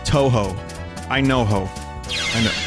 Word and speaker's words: Touhou: I'm good but Vinnie it's pronounced Touhou I know ho I